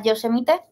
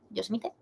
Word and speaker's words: Yosemite: y subir hacia arriba sin poder llegar a Yosemite. ¿Yosemite?